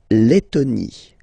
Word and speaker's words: Lettonie: So remember when you've got this E and then a double letter like that, T, okay, then you will have to open your E and it will become E, les, Lettonie.